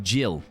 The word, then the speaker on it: Gil: And Ricardo Santos has said Gil is pronounced Jill.